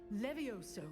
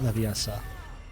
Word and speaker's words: Levioso: I care to remember levioso Leviosa a levitation charm see it's not leviasa and can't defend yourself